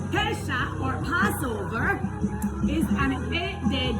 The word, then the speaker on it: Pesach: So our topic today is Passover or Pesach. It's spelled P-E-S-A-C-H.